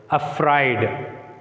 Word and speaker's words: afraid: So here, where should we put the stress mark? On F, because afraid. The second syllable begins with the letter F. That's why we should mark the stress before the F.